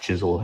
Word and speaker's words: Chiswell: And uh yeah, it's pronounced Chisel even though it looks like Chiswell, but uh yeah, original house they think was built.